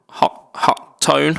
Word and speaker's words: Hotone: Um so uh the first of those uh the company Hotone Hot Tone I think they they pronounce it hot tone but it's it's got um H O T O N E.